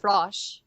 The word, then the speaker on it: Frosch: technically you're right like in german it's pronounced frosh hey and it is